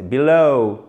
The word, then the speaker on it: below: Non, c'est below, below, comme dans hello. Donc, vous faites traîner sur la fin, ça descend, et hop, ça remonte légèrement. Hello, below.